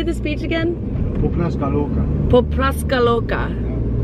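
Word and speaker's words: Pupnatska Luka: Popraska Loka. Is that correct? Yes.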